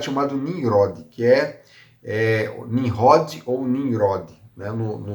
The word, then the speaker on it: Nimrod: Na língua hebraica você fala Nimrod. Os árabes também, se não me engano, tem uma pronúncia parecida com isso aí. Eles não tem esse R assim, tem um R com R, Nimrod.